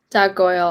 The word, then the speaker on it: Goel: g-o-e-l underscore um and my last name is pronounced goyal and so yeah that's